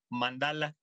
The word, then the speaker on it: mándala: un diagrama básicamente circular la palabra mándala por cierto en español se aceptan las dos formas pero en sánscrito es mandar con acento en la primera a no es mandala como mandala a volar este el chiste es